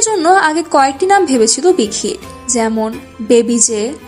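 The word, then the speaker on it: 박: এর কোরিয়ার উচ্চারণ বাঘ।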